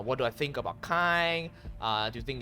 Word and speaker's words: Kain: more information on kaine he pronounced it as kind i kept saying kane but yeah so apparently